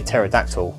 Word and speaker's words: pterodactyl: that one the well i say pterodactyl but terrorized on because the bees silent terrorism territory again pronunciation